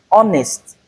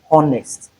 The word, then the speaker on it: honest: For instance, in this particular group of words, we don't have the sound, but we have letter H in the spelling.